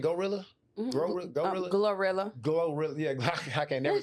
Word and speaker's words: GloRilla: groundwork, not just a bit in pieces, because Gorilla, how you say her name? Gorilla? Glorilla? Glorilla, yeah, I can never say that.